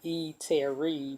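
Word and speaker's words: E'Terri: My name is Terry, so I'm calling it The Eatery, but it's pronounced Eatery. It's E apostrophe Terri, which spells out my name, and it's called The Eatery.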